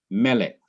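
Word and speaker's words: מֶלֶךְ: not accented in melik the syllable that is accented in melik is not the last syllable but it is the syllable immediately before the last syllable that syllable is me me melik not M but mik and therefore you need the accent symbol to let you know that me must be emphasized the next example is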